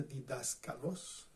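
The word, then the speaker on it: διδάσκαλος: Pero en la que aquí se usa, se pronuncia didáskalos.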